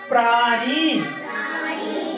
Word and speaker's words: प्राणी: ये हो गया प्राणी। प्राणी। इसमें उच्चारण नाक से होगा अणा का, अणा अणा अणा, है ना? अणा, अणा और अणा में अंतर है।